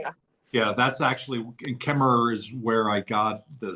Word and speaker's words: Kemmerer: By the way, is it Kemmer? I always called it Kemmer, without the extra syllable. It's E-R-E-R at the end. Yeah, that's how it's spelled. Paul got it right. It's Kemmerer. I have always seen it spelled that way, but the people that I know from Kemmerer, they say it in a way that sounds like they cut out the last syllable.